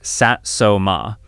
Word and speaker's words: Satsuma: Number five, the Satsuma button, pronounced Satsuma.